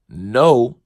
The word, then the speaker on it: know: Inform me, because at this point, no and K-N-O-W spells Kano. That, I don't know why and who said the K is silent.